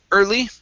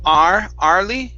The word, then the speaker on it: early: is the word um early right here instead of R Lee it's ER early okay give me a good